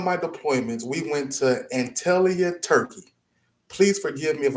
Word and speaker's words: Antalya: And during one of my deployments, we went to Antalya, Turkey. Please forgive me if I'm not pronouncing that place right, right? Antalya.